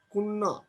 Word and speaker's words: কন্যা: কন্যা। তাহলে ক দন্ত্যন জফলা আকার, ক এর পরের ধ্বনি দন্ত্যনের সাথে কি আছে? জফলা আছে। কন্যা, কুন্না। তাহলে আদ্য অয়ের উচ্চারণ ও এর মতো উচ্চারণ হচ্ছে, কন্যা, কুন্না। কন্যার উচ্চারণ কি হবে? কুন্না।